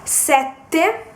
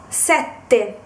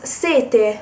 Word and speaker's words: sette: Then another example will be sette, sette, which is the number 7. If you do not pronounce the double T, it becomes sete, which means thirst, like when you're thirsty.